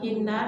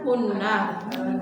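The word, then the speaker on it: هِنَّ: Ada ala nyambung langsung dengan hinna namanya domir apa? Mutasil ya. Heeh. Aslinya kan hunah, tapi karena sebelumnya ada ya sukun maka kita bacanya jadi hin.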